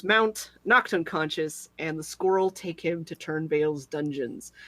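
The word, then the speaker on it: Skorl: Squirrel? It's not Squirrel, it's Squirrel.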